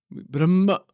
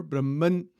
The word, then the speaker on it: Brahman: slow what is Brahman Brahma Brahman you know sometimes it is pronounced Brahma or Brahman the n Sound is there also at the end an infinite undiv divided